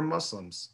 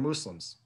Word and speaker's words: Muslim: the Sarah desert were Muslims or Muslims both pronunciations are frequently used a Muslim is someone